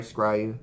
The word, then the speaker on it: scrying: next one right now screw you sorry scrying that's how you pronounce it so discard copy and